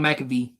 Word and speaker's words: McVay: Bro, look at Sean McVay.